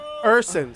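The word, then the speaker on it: Ersson: And the Flyer goalie, how do you pronounce his name? Urson.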